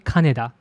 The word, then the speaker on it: Kaneda: But coincidentally, the pronounce exactly Canada.